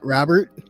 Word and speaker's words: Robert: you got it because you don't pronounce the T because you rarely pronounce